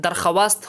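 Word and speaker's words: درخواست: अर्थ है: सौभाग्य, दरखास्त, यह दरखास्त नहीं है, 'वाव' का उच्चारण नहीं किया जाएगा बल्कि इसे लिखा जाएगा।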